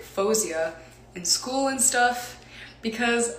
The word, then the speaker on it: Faouzia: way that my parents said my name is fuzia but like i have some friends that would call me like fawziya and then i grew up like saying my